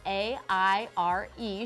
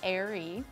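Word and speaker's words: Aire: with his new name, which is Air, spelled A-I-R-E. She confirmed the pronunciation after fans thought it might be Airy, but it's Air.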